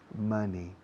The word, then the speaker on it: money: Money. Money. Se pronuncia money, no money. Money. Rima con gracioso. Funny.